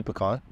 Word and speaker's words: pecan: How do you say pecan? I say pecan.